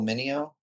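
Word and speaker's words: Meugniot: And I I have a fairly clear it was Mark Evanir and I think Will it's pronounced Mo will Mo uh who later produced the X-Men series that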